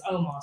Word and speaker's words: Omos: AJ's like, don't pronounce his name wrong. It's Omos.